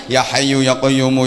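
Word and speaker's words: يا حي يا قيوم: beres salah wirid dan harusnya yahayu yaqoyum yahayu yaqoyum dibaca Yoka Yoka Yoka Yoka Yoka Yoka Yoka Yume harusnya ya Hayyu ya qoyyumu yang yiwu Tapi bacanya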